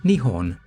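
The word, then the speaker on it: 日本: These two kanji are pronounced ni and hon, nihon.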